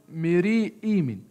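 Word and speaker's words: Meri-Amun: فكلمتين دولة إيمين ومري هي هتنطق ميري إيمين، لأن أنا هفهم أنه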